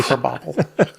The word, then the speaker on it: Krabappel: What's creative about that name is it's crab apple. Yeah. And they just changed the pronunciation. Krabappel.